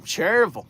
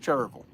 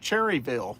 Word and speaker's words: Cherryville: from Gaston County, but when you're from Gaston County, that's pronounced Cherville.